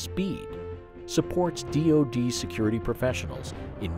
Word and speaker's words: SPēD: The Security Professional Education Development Program, identified by the acronym pronounced SPEED, supports DoD security professionals in meeting this challenge.